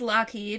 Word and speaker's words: Loughead: back um alan haynes lockheed which is spelled l-o-u-g-h-e-a-d kind of like loud kid he was born in